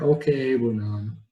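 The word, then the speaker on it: Okwuegbunam: Albert Okeabunam.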